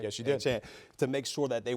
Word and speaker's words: Achane: Did I pronounce that right? Yes, you did. Achane, to make sure that they weren't able to get too much explosion on them.